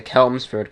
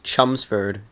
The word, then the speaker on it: Chelmsford: It looks like it's the Kelmsford Calling, but it's Chelmsford pronounced.